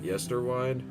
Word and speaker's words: Yesterwynde: I actually said it right. Yesterwynde.